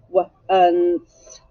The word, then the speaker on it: once: And then you hear the N. And what do you hear at the end? You hear an S. Once. Once. But it's spelled O-N-C-E.